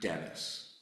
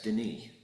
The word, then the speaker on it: Denis: Like my father, I could have anglicized it to be Denis, but I prefer the French pronunciation, the one that he gave up when he moved from Quebec to Connecticut, and that's Denis.